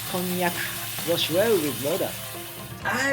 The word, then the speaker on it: konnyaku: Pronunciation in Japanese is konyak.